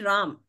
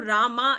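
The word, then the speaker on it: राम: So in Hindi, it is actually Ram. The original is Ram. But when we pronounce it in English, somehow due to the, I don't know what influence, the British influence or what, it has been changed to Rama in English. Originally, it is Ram.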